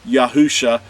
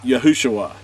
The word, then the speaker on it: Yahusha: grader could understand that if you put yahuwah's name and yahshua together you have yahusha not yahushua so with that said